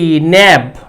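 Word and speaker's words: knave: কে এন এ ভি ন্যাব বা নেব উচ্চারণ করতে পারো কে এন A Vita silent হবে এর মানে হচ্ছে কি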